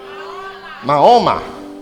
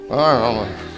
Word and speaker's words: Mahoma: Mahoma, Mahoma.